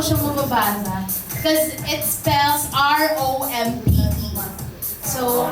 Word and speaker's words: Rompe: mababasa cuz it spells R O M P E. So, how do you pronounce this? Rompe. Rompe or romp? Rompe. Rompe daw po.